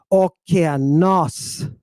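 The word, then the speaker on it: ὠκεανός: The proper pronunciation is okeanos. Okeanos. It's not okeanos, and it's not okeanos, and it's not okeanos. It's okeanos. You're putting a little extra time on that syllable where the stress accent is.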